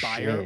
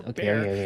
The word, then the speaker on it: Bayer: Bayer, or more commonly pronounced Bayer or Bayer, decided to take a stab in the lab to produce something fab.